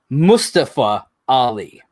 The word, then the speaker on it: Mustafa Ali: the story and i'm over here it's it's mustafa ali yeah how you pronounce his name uh i looked up the